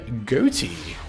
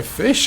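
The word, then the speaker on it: Ghoti: is going to be goatee or fish as it's technically pronounced I feel like we've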